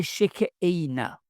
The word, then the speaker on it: Shekinah: Les juifs l'appelaient la Shekinah, prononcé Shek Eina.